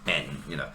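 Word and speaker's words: 円: So yeah, yen in Japanese is pronounced en, sen-en, not sen-yen.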